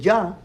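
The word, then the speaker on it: יה: And you can pronounce it Yah, according to the rabbi, but you cannot pronounce Jehovah.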